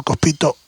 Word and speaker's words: Cospito: situación de Alfredo Cospito, si lleva tilde y es esdrújula, debería ser Cospito ahí.